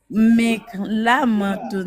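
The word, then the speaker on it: مقلمة: Fais le qaf. Miklamar. Fais juste qaf.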